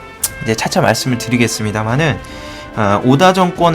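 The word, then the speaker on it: 織田: 주인인 2의 주인공인 이 오다 노부나가는 이제 오다가 성씨의 오다가 직장 남은 이라고 하는데 그게 인제 오다 가문 입니다 한자 로 그냥 우리나라 발음으로 읽었을 땐 직전이 되는 것이고 일본식으로 읽었을 때는 오다가 되는거예요 여러분들도 뭐좀 관심있으신 분들은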